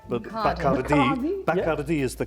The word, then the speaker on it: Bacardi: Okay, by the way, in English it's always pronounced Bacardi, but Bacardi is the correct pronunciation because it's the surname of one Facundo Bacardi, who was born in the early 19th century.